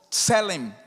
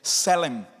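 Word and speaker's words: צלם: se escreve com T-S-E-L-E-M, Tselem, ou Selem. O americano sempre vai cortar a primeira consoante quando está junto de outra consoante, então o americano pronuncia Selem, mas ela é Tselem.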